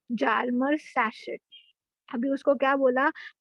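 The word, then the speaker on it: Hjalmar: Okay, इसको जालमर मत बोलना बच्चा, एच साइलेंट है यहाँ पे, तो ये वर्ड कैसे प्रोनाउंस होगा? जालमर सैचेट।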